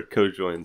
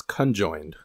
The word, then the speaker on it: conjoined: Anyway, what are our co-joined squares of success? It's conjoined. Conjoined. Conjoined, not co-joined. Not co-joined.